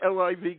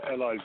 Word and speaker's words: LIV: live or livv how do you like I yeah yeah we we is live golf so it's spelled livv and you're right there